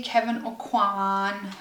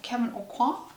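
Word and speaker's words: Kevyn Aucoin: so this is the kevin o'quan or kevin aucoin i think that's how it's pronounced kevin aquan um like contour book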